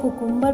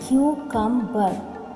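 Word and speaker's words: cucumber: ध्यान रखिएगा कक्कंबर को बहुत लोग कुकुंबर प्रोनाउंस करते हैं जो कि गलत है। इट is pronounced as कक्कंबर। क्यूकंबर।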